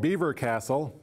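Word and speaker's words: Belvoir Castle: Close to the manor, there was another great house, a castle called Beaver Castle. It's not spelled like beaver, but call it Beaver Castle.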